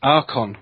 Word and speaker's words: archon: is yeah the word the the word is Aron so the CH is pronounced as a okay I'm sorry it's okay